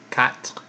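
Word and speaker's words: quatre: tois not not try after that we have cat which is four it's a cat flip protons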